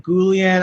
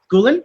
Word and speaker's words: Guillén: they were just like gulen is it gulen and it's like no it's like the double l makes a sound and you grew up